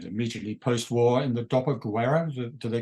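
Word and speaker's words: dopoguerra: I mean, so we're talking about the stories starting, as you said, immediately post-war in the Doppelguerra, do they call it? Yeah. Am I pronouncing it yes, correct?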